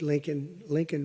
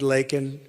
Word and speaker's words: Laken: He said Lincoln Riley, and Lincoln Riley is the football coach, or the coach. And this was in Congress, couldn't even get the name right.